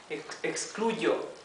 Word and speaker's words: excluyo: Excluyo, excluyo. That's how you pronounce it with a Y.